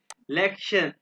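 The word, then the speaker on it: Lektion: टी आई ओ एन लेक्शन ये टी आई ओन इसको German में प्रोनाउंस करते हैं सयन सयन यानी ये लिखा हुआ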